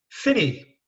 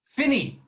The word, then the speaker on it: Phinney: this episode thank you daniel i've got the pronunciation of your surname right john finney finney finney the original spelling a f-i-n-n-a-e and gay